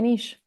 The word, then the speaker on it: niche: So wow, I'd lean into it and make it my niche. Yeah. So that's how we say it, niche. Yeah. Niche, was I saying it wrong? Both ways are correct.